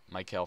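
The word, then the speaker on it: Maikel: it's something like that Mike hell Franco yeah that's how you say it Mike Hale Franco he's playing first for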